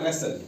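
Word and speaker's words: wrestle: है इसको विसल पढ़ते हैं ठीक है या रेसल डब्ल्यू आर इ एस टी एल इ यहां भी देखो तो एल से पहले क्या है?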